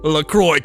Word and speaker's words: LaCroix: they say in australia la croix enjoy c on la croix no but it's pronounced lacroix to remind you of the word enjoy it's not even like